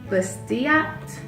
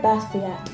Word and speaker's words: Bastiat: They couldn't quite pronounce the author's name, Frederick Bastiat.